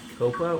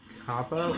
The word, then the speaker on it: Kappa: Yeah, I think I called it Copa, which is a soccer thing. I meant Kappa, but either way, Kappa sucks.